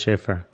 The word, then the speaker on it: Schaefer: It's spelled kind of funny, but it's pronounced Schaefer.